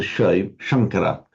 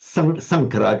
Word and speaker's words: Sankara: also, you pronounce this as a Shankara, like the famous Shankaracharya, the Shankara. Sankara, just literally, it's a pretty ordinary word, meaning sweeping together, piling up together.